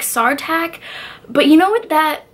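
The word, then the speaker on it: Sartaq: you say it so you're supposed to say it like SAR tak but you know what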